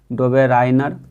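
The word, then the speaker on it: Döbereiner: में पहचान वाला था जो इसका उच्चारण होता है दुबे राइनर अगला क्वेश्चन क्वेश्चन नंबर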